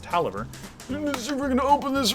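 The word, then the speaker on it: Taliaferro: it's by Al Tolliver it's kind of hard to pronounce it it's like I'll tell a fairy oh but I think it's pronounced Tolliver we're gonna open this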